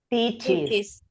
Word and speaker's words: teaches: teaches. Teaches. Teaches English. Ahí siempre se le agrega la ES y se pronuncia distinto.